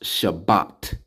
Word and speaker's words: Shabbat: me do it that's all right but it's pronounced Shabbat all right and we see right here look